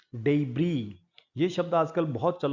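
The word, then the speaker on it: debris: डे टै यह शब्द अंग्रेजी भाषा का नहीं है ओरिजिनली अंग्रेजी में बहुत सारे जर्मन और फ्रेंच और दूसरी भाषाओं के बहुत सारे शब्द हैं। उनकी प्रोनाउंसिएशन थोड़ा अलग रहती है। यह शब्द डी ई बी आर आई एस डेब्री।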